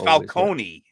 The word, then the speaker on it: Falcone: So the the Batman calls him Carmine Falconee and it's Falcone. Yeah, it's pronounced Falcone.